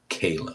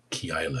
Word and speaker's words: Keilah: David saves Kayla. That's what it sounds like.